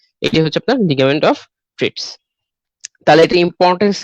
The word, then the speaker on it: Treitz: Suspensory ligament of the duodenum বা ligament of ট্রিটস। ঠিক আছে, লিগামেন্ট অফ ট্রিটস। ট্রিটস বানানটা দেখেন TREITZ। ঠিক আছে, লিগামেন্ট অফ ট্রিটস, বা অনেকে ট্রেডস উচ্চারণ করে, সেটাও আপনারা উচ্চারণ করতে পারেন।